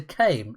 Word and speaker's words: Caim: Caim.